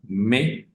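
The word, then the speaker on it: mais: tenemos que entender que una a y una I normalmente van a sonar e como una e del español e Entonces vamos a tener una palabra como me me que significa Pero y eh se escribe m a i s eh recordando entonces que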